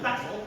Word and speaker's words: basil: Yes, Bay-sil? (pronounces "basil" the American way) Basil.